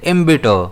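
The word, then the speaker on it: embitter: अब इसे हम प्रोनाउंस कैसे करते हैं? इम्बिटर। इसमें स्ट्रेस कहां रहता है? बी पर रहता है।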